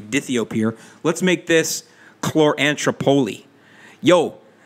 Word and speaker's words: dithiopyr: We got people mispronouncing dithiapyr because it's supposed to be dithiopyr.